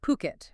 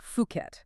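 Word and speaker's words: Phuket: And let's be super clear on the pronunciation. It's Puket, okay? Not Fuket.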